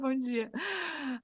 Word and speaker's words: Bom dia: Bom dia.